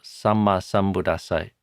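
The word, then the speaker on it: sammā sambuddhassa: And the other is to pronounce double consonants. So samma sambuddhassa, you pronounce both M's and both D's and both S's. The two D's, by the way, are a hard D and then an aspirated D.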